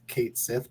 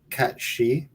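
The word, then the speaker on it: Cait Sith: It looks like it's spelled Kate Sith, but it's actually pronounced. It's a Scottish Gaelic kind of mythology name. Cat She.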